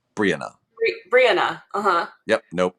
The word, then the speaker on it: Brianna: first syllable, Brianna.